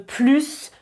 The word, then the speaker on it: plus: Au début de la vidéo, j'ai dit « je veux plus de vacances ». Donc quand on prononce le S, le plus a un sens positif.